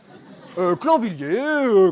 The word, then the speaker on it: Clanvilliers: Clanvilliers, comme ça se prononce, voilà, comme ça, Henri Clanvilliers.